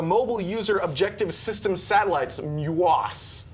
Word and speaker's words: MUOS: This was the third of the Mobile User Objective System satellites, MUOS. He pronounced it much better than I did. Every time I see it, it sounds like mucus to me.